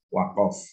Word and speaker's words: waqaf: Ya, saya tulis lengkap pakai huruf A dan O, ya, karena huruf Qaf itu kalau di fathah itu tulisannya pakai huruf A, tetapi bacanya adalah waqaf.